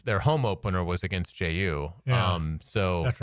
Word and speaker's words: Jai: Obviously, uh they they got a new coach, Jai Lucas, I think his name is. He was an assistant at Duke. Yeah, they he actually pronounces it J.